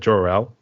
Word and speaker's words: Jorelle: how do you pronounce your name is it jel is that how you pronounce it J yep I'm named after you're